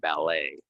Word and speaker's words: ballet: that come from French We're not gonna say this T right valet and ballet valet and ballet and the difference at the beginning V and B valet ballet uh we'll